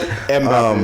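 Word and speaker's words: Mbappé: Mbappe. Is that his name? Is that how you say it? Mbappe, yeah.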